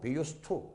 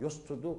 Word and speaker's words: used to: 이때는 ed의 발음을 트라고 했죠. 사실상 트가 두 번 겹치니까 하나 빼버리고 be used to 라고 읽어야 되겠지만, 그러나 또 한 가지 있습니다. 뭐뭐 하곤 했다. used to도 이때도 ed의 발음이 t예요. 아까 똑같습니다. 여기도 t가 또 나오니까 합쳐서 used to도 라고 읽어야 되겠네요.